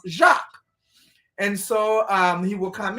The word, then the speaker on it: Jacques: name, but I believe his first name is pronounced Jacques.